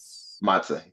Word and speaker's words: matzah: Uh say that matzah.